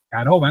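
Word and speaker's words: корова: La primera es caroba, se pronuncia caroba, no son dos letras O, sino la primera es una A.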